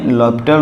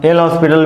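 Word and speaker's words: L'Hôpital: LH rule यानी लॉपिटल rule, कितने लोग एल हॉस्पिटल भी बोलते हैं, लेकिन आप लोग याद रखिएगा कि यहाँ पे H साइलेंट होता है तो लॉपिटल रूल ही पढ़ेंगे।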